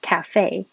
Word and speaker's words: cafe: a d literally and when we say cafe the stress is on the second syllable cafe and latte we put